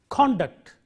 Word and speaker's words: conduct: used as a verb conduct stress on the first syllable used as a noun